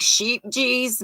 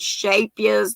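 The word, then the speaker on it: Scheepjes: um i've you know it looks like sheep geez but it's a dutch word i've been told it's pronounced shapias though some people beg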